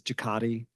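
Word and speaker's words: JCATI: Aerospace Technology Innovation uh that's abbreviated and and pronounced as jaati um which is a Washington state funded program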